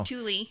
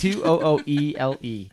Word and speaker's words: Tooele: So Tooele is how it's spelled. Tooele.